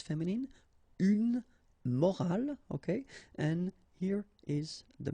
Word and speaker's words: morale: but in that case you've got this at the end, which is silent, so you don't pronounce it.